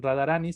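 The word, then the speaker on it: राधारानी: En este caso la vocal cambia en Radharani, sino que se dice ni.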